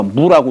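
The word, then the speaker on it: 亡: 서 이게 이제 뭐 망할 망이라고 얘기를 하는데 여기서는 망했다 죽었다라는 이런 뜻보다도 없다라는 뜻으로 그렇게 얘기할 때에는 요걸음을 갖다가 무라고 읽습니다. 무 망이라고 안 읽어요. 무라고 읽어요.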